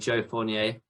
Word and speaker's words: Joe Fournier: a new one came out a man named Joe Fournier that's how you say his name I might